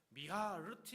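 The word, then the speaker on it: מִהַרְתִּי: 미하르티 이렇게 발음을 합니다.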